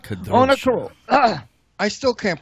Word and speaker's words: Kadrolsha: Kadrolsha.